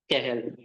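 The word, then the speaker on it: Cajal: है तो हम इसको कैहल पढ़ते हैं है ना ये कैजल नहीं है इट्स अ कैहल लेकिन लिखना है अपन को कैजल ही है ठीक है क्योंकि वहां पर जे को एच के उसमें प्रोनाउंस किया जाता है ना तो कैहल स्पेनिश वर्ड है ना तो इंटरस्टीशियल सेल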